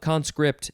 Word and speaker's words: conscript: conscript okay where om third form of conscript is actually pronounced conscript second syllable is emphasized this is a transitive verb from 1813.